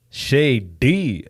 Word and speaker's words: Shay D: Shady? Like literally. SHAY space D. SHA. What? Y. Okay. Space and then D. Shady.